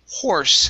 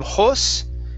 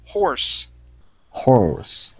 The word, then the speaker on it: horse: go to the word horse instead of hoss okay pronounce that our horse horus okay one more time horror horse horse there you go much better with the r okay uh let's go